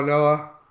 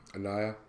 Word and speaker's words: Anoa: So yes, Joe Anoa. That's how you say his name. Anoa.